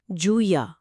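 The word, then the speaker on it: جویہ: اور اہم اصطلاح ہے، اس کا تلفظ کیا ہے؟ جویا، جیم پر پیش، واو ساکن، یا ساکن اور آخر میں ہا، جویا۔ جوئیہ، ٹھیک ہے۔ تو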